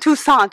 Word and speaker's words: Toussaint: It's got like a French Toussaint. It sounds got like a French. It is French. Yeah, It means very all French. saint. It means all saint, and she is an all saint.